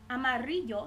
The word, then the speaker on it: amarillo: that we have being the two L's together has a pronunciation of an English y so if we wanted to say the color yellow in Spanish we will say Amarillo a Mario Amarillo having Edie in it